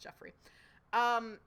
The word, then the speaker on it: Geoffrey: spelled Geo, but I think that is still just pronounced Geoffrey.